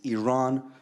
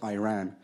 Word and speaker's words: Iran: not to use the Islamic Republic of Iran on their social media the flag on their